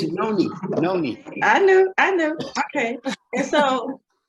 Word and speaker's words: Noni: know, we have a new product, and it's Nani, and I probably am not pronouncing it correctly because, you know, Uncle Mike is always about pronouncing things correctly. So did I say that right? Yeah. It's Noni.